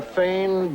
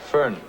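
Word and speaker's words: Föhn: You ever hear of the Fane Bavarian? Fern. It's pronounced Fern.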